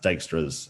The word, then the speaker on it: Dijkstra: if i missed out yeah i think it's pronounced dijkstra's algorithm yeah that's what we've got time now